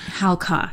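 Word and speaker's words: Halca: It's HAL-CA. Halka.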